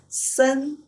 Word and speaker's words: 森: And on top of that, if we add one more tree, it will become forest, pronounced as 森.